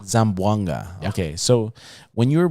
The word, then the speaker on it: Zamboanga: said you were born in how do you pronounce it again zamboanga zamboanga okay so when you were born in zamboanga